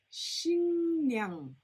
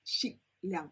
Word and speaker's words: 식량: Another example, 신냥, 신냥. not 식량.